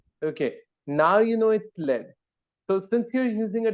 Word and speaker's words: lead: of the book it's uh lead lead it's pronounced lead all right so yeah lead okay now you know it led so since you're using a different periodic table